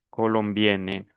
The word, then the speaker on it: colombienne: Algunos de ustedes no están pronunciando bien. Colombian, colombienne.